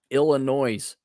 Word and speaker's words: Illinois: just uh nonstop Dre two bucks Chad it's pronounced Illinois illino also Dre said it's 7:21 a.m.